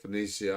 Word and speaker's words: Phoenicia: I didn't say it Phoenicia I didn't say it that you it rhymes with Phoenician right uhhuh it rhymes